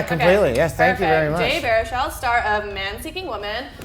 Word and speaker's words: Baruchel: episode of teeny tiny talks to with Jay Baruchel am I saying it right yeah completely yes thank you Jay Baruchel star of man seeking woman on FXX so